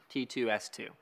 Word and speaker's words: TTSS: just like this one T2 S2 you guys Tech tip suggested software that's how you say it T2 S2 or squared that's fine too a